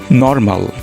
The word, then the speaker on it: নর্মাল: এর ইংরেজি আমরা বলে থাকি নর্মাল। সো নর্মাল এটিও অশুদ্ধ উচ্চারণ। লজ্জাজনকভাবে আমাদের বলতে হবে নর্মাল। নর্মাল, নট নর্মাল। এখানে আরটি সাইলেন্ট রাখা হয়েছে।